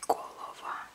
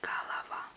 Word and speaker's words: голова: So here you have O's. Two O's. But these O's are usually pronounced as us. So you don't say голова, you say голова. But it really depends on the dialect.